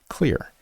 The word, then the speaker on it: Xlear: It's Xlear that's X L E A R pronounced clear.